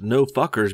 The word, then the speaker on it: NFKRZ: A couple weeks ago, the channel NFKRZ, pronounced No Fuckers because he's so edgy, y'all.